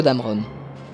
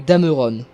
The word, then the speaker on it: Dameron: Une erreur relativement peu commise mais qui reste exaspérante, celle sur Poe Dameron. Les deux E qui composent son nom sont muets, alors s'il vous plaît, arrêtez de prononcer Dameron ou Dameron.